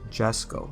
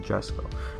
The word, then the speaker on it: Jesko: name, and the Koenigsegg Jesko. If I were Swedish, then I would say it correctly, but it's the Jesko.